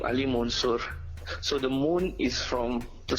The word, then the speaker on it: MÜN: So I took the moon from there and stylized it as MUN with the double dots on the U. Right. So yeah, it's my name is spelled MUN, but it's pronounced MOON basically.